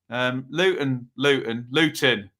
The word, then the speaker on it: Luton: Luton. Pronounce my T's. I get mocked for this, don't I?